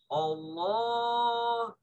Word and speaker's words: Allah: Allah, bahasanya Allahu Akbar, Allahu Akbar, nah, gitu ya. Jadi bukan A tapi bacanya O. Kenapa dibacanya O? Karena ada huruf di depannya itu tebal sehingga A terpengaruh dia.